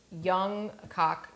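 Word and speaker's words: Jung: and search for um this is the Wisconsin um pronunciation of this uh which I'm guessing is the German pronunciation but because Wisconsin has a large German immigrant population here. So we would say these names young canel.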